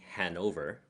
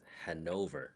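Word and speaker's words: Hannover: See, in English they say Hanover, but then I've adopted the German saying it's Hanover. You hit the second syllable harder.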